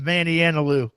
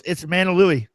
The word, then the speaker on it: Manalui: That's I reject Dave's pronunciation of Manny Analu. That's not my pronunciation. I'm copying that from him in chat. Just throwing it out. That's okay. No, it's Manalui. That's what I've decided the name is, and it'll forever be Manalui.